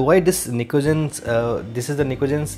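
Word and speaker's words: pnictogens: Okay, they are also termed as nicogens. P is silent here. तो why this nicogens, this is the nicogens जो कि collectively इनके लिए नाम है.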